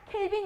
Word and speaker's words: 켈빈: 나타낸 한걸로 절대로 돌아갑니다 kb 1 당 탱이 라고 트고 켈빈 이라고 읽어 주면 되요 자 힉 10대 온도는